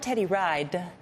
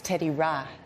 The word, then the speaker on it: Teddy Ride: teddy ride yeah and it's not teddy ride it's teddy rah that's it right because that's how you say it in liberia oh teddy teddy okay